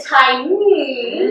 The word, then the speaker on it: Thai'mmm: Today we have Island Thai'mmm. And I'm not just saying it weirdly. It is spelled t-h-a-i apostrophe m-m-m.